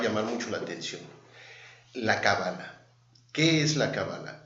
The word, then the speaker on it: cábala: decir qué es la cabala bueno la la cábala o cabala como en hebreo se pronuncia es una tradición muy